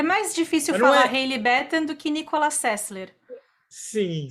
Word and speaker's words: Batten: ela muito legal, e eu fiz associação com Batman. Então a gente tá falando errado, é Batten, gente, Hailey Batten. É mais difícil falar Hailey Batten do que Nicolas Sessler.